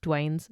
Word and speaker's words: Duane: on the 30th of May when she spotted a man matching Dwayne's photograph. So, his name is spelled D U A N E. Yeah, Dwayne. Yeah. Dwayne.